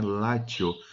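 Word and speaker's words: Latium: Só que em latim, normalmente a letra C, hoje em dia, é pronunciado como T, né, Látio.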